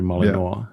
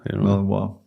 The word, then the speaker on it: Malinois: People learn it by now to say correctly Malinois. Malinois.